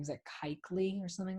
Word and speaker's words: Kuechly: Is it Kuechly or something like that? Luke Kuechly? Kuechly, thank you.